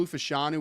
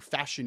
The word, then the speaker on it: Fashanu: have Garrett Wilson Olu fashanu was playing Dynamite football down the or fashion I guess is how pronouncing it now so he's playing Dynamite